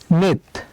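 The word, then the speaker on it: 넷: কাকার দিলাম নিচে আছে সিউট সিউট নিচে বসলে উচ্চারণ হবে তাই আমরা একটা ত নিলাম তাহলে উচ্চারণ হবে নেত আর নেত মানে হচ্ছে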